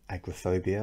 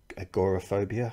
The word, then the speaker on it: agoraphobia: came up in the responses were things like agoraphobia or agoraphobia, I think it's pronounced in America.